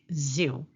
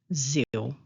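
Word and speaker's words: זיו: However, in the Hebrew text, it is pronounced Ziv.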